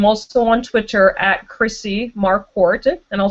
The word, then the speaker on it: Marquardt: on Twitter at Chrissy markart and I'll spell that sorry my my last name is hard to pronounce and actually the D is out of that one haha so it's just